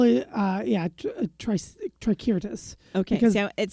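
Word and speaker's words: Tricyrtis: call it uh yeah tricirtus okay because it sounds like a dinosaur yes but you know when you say it okay well in Latin there was no s sound on the C the C always sounded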